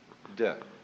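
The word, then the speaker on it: 德: Virtue in Chinese is de. We Romanize it as T-E-H, de.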